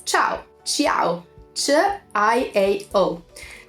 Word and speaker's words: ciao: so the informal one everyone knows this it's Chow Chow sure I ate oh this is tau